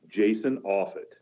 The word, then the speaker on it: Offutt: describes the quintessential bathroom reader bathroom reader uh jason offit that pronounce that right yep you got it all